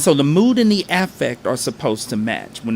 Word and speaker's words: affect: Affect, it's spelled like affect, but it's pronounced affect.